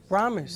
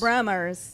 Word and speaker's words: Bramer's: Yeah, so how is it pronounced? Brahmers. Brahmers.